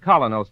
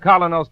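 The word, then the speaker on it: Kolynos: We honestly believe that Colonos toothpaste will help clean and polish teeth more effectively, safely, beautifully.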